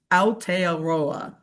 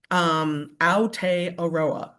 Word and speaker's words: Aotearoa: free to make fun of me if I mispronounce this terribly, but the word that starts with an A is Aotearoa. Aotearoa.